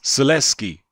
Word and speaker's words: Sulecki: but his surname is Celeste key I believe it's pronounced LS key that's how I remember the HBO comedy is pronounced in anyway so if